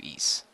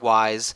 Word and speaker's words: Ys: It's called officially so you want to get into East. Yep. And yes it's pronounced east not wise not ease. It it's it's it's like you It's like you say the word geese but drop the G, but you don't say